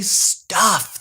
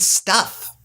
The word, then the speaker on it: Stuf: and you have to be very careful when you pronounce the double stuff not to say that second F because it is not there double stud leave off the last F fer